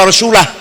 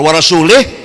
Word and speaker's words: wa rasulah: Bacanya wa rasulah. Kalau wa rasulih, Allah tidak melindungi orang musyrik dan tidak melindungi Rasulullah.